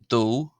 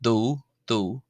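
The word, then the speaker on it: dó: The number two is do. Some of you there are thinking of Homer Simpson, of course, but it's pronounced do.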